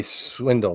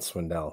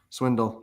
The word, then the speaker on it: Swindle: It might be Swindle, not Swindell. So I might have had that wrong. Sure. Swindle.